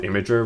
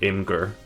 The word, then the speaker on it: Imgur: It's technically supposed to be pronounced Imager, right? But like I always pronounce it Imgur.